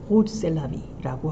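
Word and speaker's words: Rrose Sélavy: 이게 로즈를 왜 이상하게 발음하느냐? 사실 듀샹은 프랑스 사람이에요. 그래서 대부분의 작업 제목을 불어로 만듭니다. 아까 에땅돈에도 이제 불어거든요. 근데 이게 R이 두 개다라는 거는 이제 프랑스식 R 발음을 해라라는 얘기가 될 것이고, 그래서 로즈보다는 호즈 셀라비라고 발음하는 게 더 맞아 보입니다.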